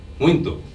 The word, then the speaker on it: muito: Okay, the first thing we need to do is change the A of muita to O so that you have muito.